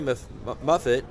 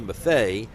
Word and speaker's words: Maffei: It was Rory Muffett. I keep getting his name wrong. Rory Maffei and Eric Salido converging on the ball, and Maffei made the catch, and it's out.